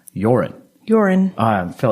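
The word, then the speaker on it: Joran: the news i was i kept calling him johan and i don't know why i did and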